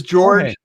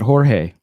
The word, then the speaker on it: Jorge: you my name is george is that correct i think we pronounce that jorge jorge jorge you know if you're from utah george george yeah it's like st george thank you so